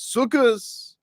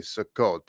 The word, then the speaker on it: Sukkot: the more Ashkanazi way refer to it as sukus but it's actually sukkot. It's not sukus. That's actually a improper uh way of pronouncing it.